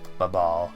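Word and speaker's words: Babahl: That's about right for pronunciation. Babal, gotcha. I always thought it was like Babel or something.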